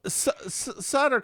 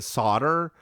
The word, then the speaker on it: Sutter: Well, Sutter comes up and so people keep pronouncing it solder, but I looked up it's spelled s u- tt r. It's sutter, but they're saying solder.